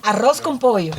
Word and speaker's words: arroz con pollo: I don't know if, again, help me with the pronunciation. Yes. Arroz con pollo. Arroz con pollo.